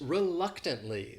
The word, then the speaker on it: reluctantly: the next word is reluctantly this word has four syllables and the stress is on that second syllable that third syllable also has that schwa reluctantly reluctantly and what it means